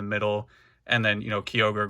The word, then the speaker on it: Kyogre: And then, you know, Kyogre, Groudon, Rayquaza, Jirachi, and Celebi. Yes, that's how you pronounce all of them.